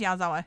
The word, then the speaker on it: Yazawa: that's not it that is definitely how you pronounce it oh yeah no it is yazawa yeah yeah yeah hold on I I was